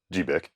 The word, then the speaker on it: GBIC: To support that transition, these units each have two GBIC ports or gigabit interface converter ports, but I think folks always just pronounce it as GBIC.